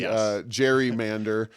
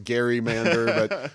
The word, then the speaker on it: gerrymander: It's taken on a soft G gerrymander as opposed to, some in the know, the lawyerly crowd, they'll call it a gerrymander.